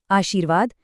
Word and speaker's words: आशीर्वाद: आशीर्वाद अक्सर लोग र की आवाज के चक्कर में श पर छोटी ई लगा देते हैं जो कि गलत है। सही उच्चारण में शी की ध्वनि लंबी है।